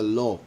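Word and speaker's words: לא: so take away the law take and not meaning but meaning the the word no in hebrew which is pronounced law so yeah hopefully no misinterpretation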